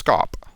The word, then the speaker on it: scop: SC sounds like SH, so you'd pronounce scop, like shop.